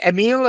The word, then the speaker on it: Emil: said oh well is Emil okay I said sure and that's how uh the German name turns into a French pronunciation that is fascinating well